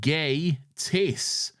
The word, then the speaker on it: Gatiss: It is pronounced Gay Tiss, and we know this because of his famous quote, "Just think gay.